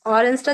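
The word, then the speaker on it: Orange: নাহিদ আপু ট্রাই করবেন নাই সুলতানা আপু ভাইয়া অরেঞ্জটা যদি আরেকবার বলতেন এটা হচ্ছে ডি অরেঞ্জ এটা ইংলিশে যেভাবে আছে ওরকমই তবে উচ্চারণটা থাকবে হচ্ছে একটু ভিন্ন দি অরেঞ্জ এখানে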